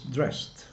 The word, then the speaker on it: dressed: dressed dressed so it's dressed because the final sound is s and then the the ending d is pronounced like t dressed okay let's do